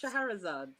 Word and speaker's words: Shahrazad: But it's pronounced Shahrazad. Shahrazad. Okay. Shahrazad. If anyone watches Pokemon, then Charizard, Shahrazad, that kind of.